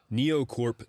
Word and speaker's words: NioCorp: NEOCorp Developments, that is spelled NIOCORP, is a company that